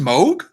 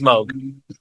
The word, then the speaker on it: Moog: yeah moo moo Mo yes it's it's it's pronounced Moog yeah yeah get the out of here it's it's Moog yeah Bob Moog uh the Moog Factory and